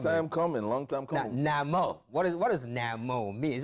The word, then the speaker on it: NaMÓ: NaMÓ. I mean, you have to say it with a traditional voice. With the exclamation point at the end.